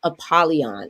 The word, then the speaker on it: Apollyon: is called the chains of Olympus curse of apolon is that the correct way to pronounce it yes ma'am all right well welcome